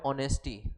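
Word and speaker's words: honesty: Use before the word ऑनेस्टी। अब देखो यहाँ पे एच आया है, अब बताओ तो एच क्या है? एच क्या है? एच एक कॉन्सोनेंट है, लेकिन इसका उच्चारण क्या आ रहा है?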